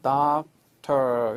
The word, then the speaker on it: doctor: doctor 이렇게 적으면은 이 끝에 오는 R 그죠. 혀를 좀 말아가지고 당겨서 발음하는 거죠. doctor 이렇게 미국 애들은 그렇게 발음해요.